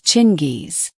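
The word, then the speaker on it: Chinggis: In Mongolia, the G is soft. So, if you want to be accurate, you should pronounce it Chingis.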